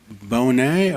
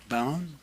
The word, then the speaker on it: Bound: Is it Bonet or did I say it right or bound? Good evening board members. My name is Bound and by way of